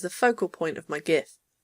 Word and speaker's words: GIF: focal point of my gif GIF stands for graphics interchange format which is why I pronounce it gif not GIF because it's not graphics in an empty slide